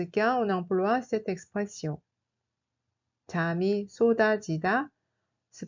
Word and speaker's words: 잠이: 잠이 se prononce en réalité comme 잠이, 잠이.